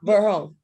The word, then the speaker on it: Burholme: And how do you pronounce that last one that I skipped over? Was it Burholme? Yeah, Burholme, yes.